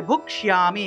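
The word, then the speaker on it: ভোক্ষ্যামি: তারপরে ভুক্ষ্যামি, এখানে দেখুন ক্ষিয় এর উচ্চারণটা হলো স রূপে হয়ে থাকে। অর্থাৎ সংস্কৃত যে কোনো জায়গাতেই যদি আপনারা ক্ষিয় পান, এই ক্ষিয় এর পরিবর্তে স উচ্চারণ করবেন।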